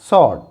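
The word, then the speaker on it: sword: और यहाँ पर जब W साइलेंट है तो it will be सॉर्ड, सॉर्ड।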